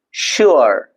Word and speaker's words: sure: Generally people say it's ah sure. It's not sure, it's sure. So u and a sound mixed.